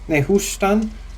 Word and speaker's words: Nehushtan: For instance, there was Nehush, let me pronounce this right. There was Nehushtan, which was the bronze serpent put on the cross by Moses.